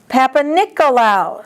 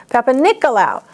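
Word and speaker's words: Papanicolaou: Papa-Nicolau smear. The common pap smear. George Papa-Nicolau invented the procedure, but just pretend that it was Nick instead of George. Nick. Papa-Nicolau.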